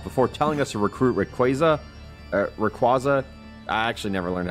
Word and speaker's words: Rayquaza: telling us to recruit Rayquaza. I actually never learned how to pronounce it. I say Rayquaza. Like Quasar.